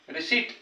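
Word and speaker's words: receipt: अतिशय महत्त्वाचा शब्द आहे पी सोबत जर टीटी असेल तर बघा रिस रिसट पी चा उच्चार होत नाही.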